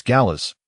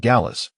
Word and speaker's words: Gallas: Correction noted, "It's Gallas, not Gallas." as the finals is silent in French and I had forgotten he was a French player.